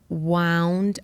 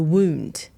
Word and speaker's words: wound: So for example, she wound around the wound. This is really hard for English. So wound, W-O-U-N-D, Wound. and wound, they're spelt the exact same.